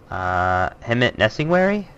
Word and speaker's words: Hemet Nesingwary: of Warcraft one of my favorite quest givers hemet nesting weary that's how I've always said it that's that's an accurate pronunciation have you yes so he originally appears